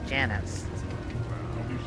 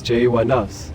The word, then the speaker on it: Jas: no worries mistakes happen my actual name is pronounced as Jas the emphasis is on the first syllable I hope this clears